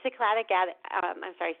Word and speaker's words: Cycladic: Is it Cycladic Greek island? Cyclid? Yeah, I know Cycladic. Cycladic islands, exactly.